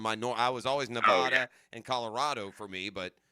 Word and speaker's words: Nevada: Nevada. It is. And thank you for pronouncing Yeah, correctly. Of course, if Dan were there, he would say Nevada.